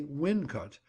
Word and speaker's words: Wilnecote: There is, however, another place which claims the honour, the unlovely Wilnecote, a brick and tile manufacturing settlement on the Watling Street, over 25 miles distant. It also is locally Wincot, and in Shakespeare's time brewed a famous tipple.